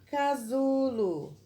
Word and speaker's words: casulo: hoje é a palavra casulo e aí o casulo uma palavra com 3 sílabas e uso na presença de ter o som de z mas é escrito com s casulo vamos para a nossa